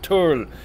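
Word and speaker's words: tul: I don't know if you can hear the RL in that tour tour okay it's not Turrell okay it's not Turrell it's true - okay total tu l is the way i spelt it many crew oh excuse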